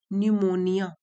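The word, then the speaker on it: pneumonia: निमोनिया की spelling देख लीजिए। पी साइलेंट होता है निमोनिया।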